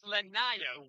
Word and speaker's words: Lanaya: It is Lanaya Wills, and she's a senior.